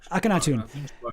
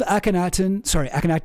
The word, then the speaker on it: Akhenaten: But I want to show this about sorry, somebody told me how to pronounce it. Who said that? Gibbly bab chow. Oh jeez. Akhenaten.